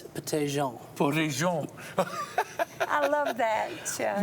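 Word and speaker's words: Pettijohn: French pronunciation. It's Petty-Jean.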